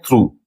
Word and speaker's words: through: हम लोग देखेंगे ओ ओ जी एच का एक प्रोनाउंसिएशन आता है उ एक प्रोनाउंसिएशन होता है मीन्स एक वे होता है प्रोनाउंस करने का उ जैसे टी एच आर ओ यू जी एच तो इसे हम लोग पढ़ते हैं थ्रू इसे हम लोग पढ़ते